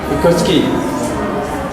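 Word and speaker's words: Vygotsky: Terus yang kedua, Figoski ya. Ini kalau bacanya biasa ya, Figski.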